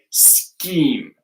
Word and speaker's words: scheme: It's an SK, scheme.